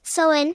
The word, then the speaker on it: Samhain: Its origins are often traced to ancient Celtic festivals, particularly the festival called Samhain, pronounced Sowin.